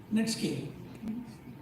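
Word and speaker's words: netsuke: iory net scale SW it is n Su pronounced net scale Japan Japan is the correct answer they asked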